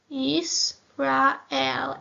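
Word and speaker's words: ישראל: So we have Yisrael, which says Yisrael.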